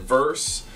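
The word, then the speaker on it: Vrse: in the box was I think you pronounce it verse uh it's vrs e that app is incredible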